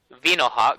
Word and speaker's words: Vinohawk: So Vino like Venusaur, and Yeah. then Hawk. Yep. Vinohawk.